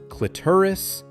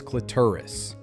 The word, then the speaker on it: clitoris: It's pronounced clitoris. Let's break it down. This word often makes people hesitate, but the correct way is clitoris. Start with cle, then a soft t, and end with wrist.